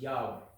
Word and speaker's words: Yahweh: And the 4 letters read Yod, He, Wah, He. And this is now pronounced as Yahweh.